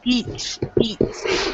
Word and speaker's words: beach: bad word okay so you've got Beach eat like eat Beach okay because you don't